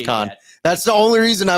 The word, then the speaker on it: Cannes: I remember like Johnny Drama said Canes and he was like con. They were like really? He's like no it's con.